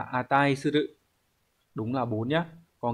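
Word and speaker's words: 値する: À, đọc là atai suru.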